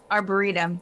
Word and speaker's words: arboretum: Arboretum? Arboretum.